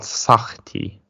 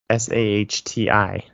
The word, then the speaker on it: Sahti: It's called Sahti, Sahti. The H is kind of like a Hebrewish H pronunciation, so it's Sahti.